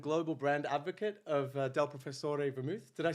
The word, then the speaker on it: Professore: the founder and Global brand advocate of Del Professor verou did I say it right yeah it's Professor right Professor yeah yeah does does anyone ever